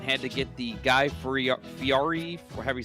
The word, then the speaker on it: Fieri: Trees, Ponder lost a bet and had to get the Guy Fieri, or however you say his name, look. Fieri.